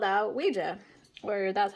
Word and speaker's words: Ouija: wanted to be called, and it spelled out Ouija, or that's how you pronounce it.